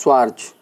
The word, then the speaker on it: Schwarz: can be said as according to Schwarz, the pronunciation is Schwarz theorem.